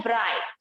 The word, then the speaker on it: bright: ब्राइट, BRIGHT, यहाँ पर भी देखो सिर्फ क्या सुनाई देता है बच्चों?